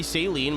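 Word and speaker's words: Saleen: And then Seline. Yeah. Yeah, that's how I've always said it. Some people say saline, but I I think that's what you put in your eyes.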